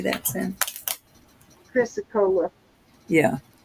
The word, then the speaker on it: chrysocolla: Chrysocolla.